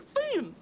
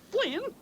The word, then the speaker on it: Finn: love the useless loafer it was Huckleberry Finn not Flynn ain't it would be something to pronounce the Poor Dad Loafer's name right oh